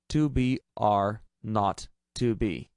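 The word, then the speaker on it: 2BR02B: The 0 on the telephone number he pronounced not. The number was 2BR not 2B.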